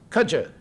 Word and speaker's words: kudzu: But anyway, that's the kudzu vine. It's become pronounced kudja in some places in the south, the kudja vine.